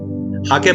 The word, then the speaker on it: hake: हाके brush बोलते हैं हम लोग, हेक भी बोल सकते हैं, HAKE स्पेलिंग होती है जी।